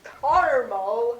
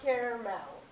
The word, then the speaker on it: caramel: According to SVMS, the correct way to say the name of Sweet Treat is caramel, not caramel. That's caramel to you people.